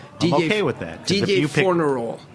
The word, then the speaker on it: Fornerol: Didier Fornerol. Spell it. Didier, D-I-D-I-E-R. Spell the last. Fornerol. F-O-R-N-E-R-O-L.